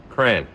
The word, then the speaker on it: crayon: crayon okay it's not my wife says cran or crown something like that I say crayon crayon c r a y o n crayon right how does how